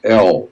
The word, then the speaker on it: El: And so in the Phoenician language, which we call Hebrew, the word for God is El, E-L, period. God is spelled E-L, El.